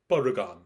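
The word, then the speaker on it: バルカン: Hello, Brian the Fanboy here, and today I am going to review Taiyo Sentai-san Barukan. It's written as Taiyo Sentai-san Vulcan, but I'm gonna say the way it's pronounced.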